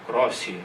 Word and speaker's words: Croce: Outro italiano importante que é conhecido também no Brasil, Benedetto Croce, ou Crossi, acho que é a pronúncia portuguesa, que debatia com outro